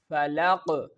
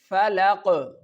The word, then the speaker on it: فلق: Here you can see I am performing the Qalqalah because here the Qaf is present and it has sukoon on it. Sukoon means that this letter Qaf has no vowel.